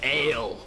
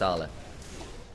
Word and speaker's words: Ale: It's pronounced Arla. Yep, sure. I don't know, that one trips up. The thing is, when he was on AL, it was, some people were mispronouncing it as AL, Ale.